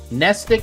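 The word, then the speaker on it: Mnestic: It is nestic. I said it right then.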